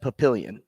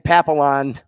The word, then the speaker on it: Papillion: Jordy came from and she mispronounced Papillion she said Jordy what are the people back in Papillon thinking right now and I'm